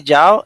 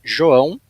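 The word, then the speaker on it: João: you say it uh you guys can say jiao it's uh it's an uh a grammatical thing here in portuguese here in portuguese it's joao but you can call me jiao every every guy that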